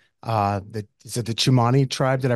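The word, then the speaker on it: Tsimane: talk after visiting uh the is it the chumani tribe did I pronounce that correctly yeah wow no one pronounces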